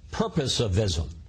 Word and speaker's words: purposivism: to reading your book, purposivism. And did I pronounce that correctly? Yeah, you did.